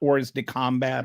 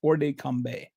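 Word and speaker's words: hors de combat: First of all, this uh orde combe it's the T is not pronounced by the way. I've I don't know French, but I've kind of looked up how to pronounce this. It's not or de combat or something.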